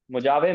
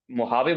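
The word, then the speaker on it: Mojave: मुजावे मतलब मोहावे बोलते हैं, प्रोनाउंसिएशन मोहावे है।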